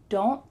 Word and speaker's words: don't: And here you're going to say, I don't know. So your tongue is stopped at the top of your mouth at the end of this word.